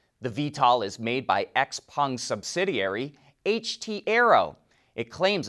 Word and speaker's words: XPeng: chinese automaker x-pung we've been pronouncing it x-pang this whole time but apparently it's x-pung it's released a video